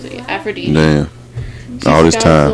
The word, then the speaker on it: Aphrodite: That's how you pronounce it. Aphrodite.